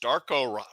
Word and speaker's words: Darko: Yeah, let's go to Los Angeles, where Raptors coach Darko Rajakovic reached. There it goes. The mispronounced name section.